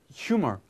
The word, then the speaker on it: humor: 근데 어쨌든 표준 발음은 humor 휴먼 이렇게 H가 돼야 되지만 어쨌든 그래서 그래서 아마 우리도 유머라고 하는 거 같아요.